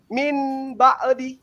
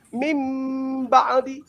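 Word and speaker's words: من بعد: ya seperti eh iqlab misalnya min baadi atau mambi itu tidak boleh kemudian membacanya eh min ba'd tapi harus membacanya mim ba'di.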